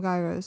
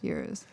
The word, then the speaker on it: gyros: uh oh yeah yeah i used to call them gyros so i get confused but the real pronunciation euros yeah dude those are